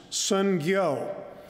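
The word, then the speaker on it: 선교: He says the word mission in Korean is pronounced sungyo.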